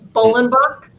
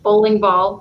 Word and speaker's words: Bollenbach: name on the bottom because it's german it's bolenbach um and everyone pronounces it wrong like bowling ball or something abigail and you can